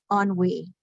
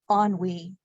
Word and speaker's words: ennui: Pronunciation, ennui, ennui, also Henry.